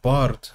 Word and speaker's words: Bjarte: Bard Bard I think Bard is the way say his name and vard IL visar